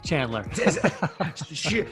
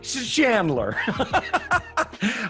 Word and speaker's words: Chandler: know if I'm saying is it Chandler with a hard C or a soft like an S Chandler? Somewhere in the middle, Chandler. Chandler.